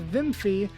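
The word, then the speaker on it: Wiimmfi: in the video but it's apparently pronounced Vimy because of its creator being German Mario Kart x with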